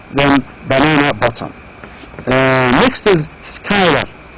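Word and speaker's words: Schuyler: Next is Skylar. Again, this name is not easy to pronounce. You pronounce it as Skylar.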